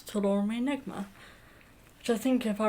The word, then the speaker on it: Toul Omri Negma: Right, so from what I can gather, Toul Omri Negma, although according to Google Translate, Toul Omri Negmaton, but as I hear Nancy pronouncing in her song, she's pronouncing it as Toul Omri Negma, which I think, if